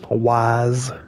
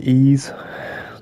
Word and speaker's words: Ys: uh incorrectly like how people used to say uh wise instead of ease just because of the way it was spelled you know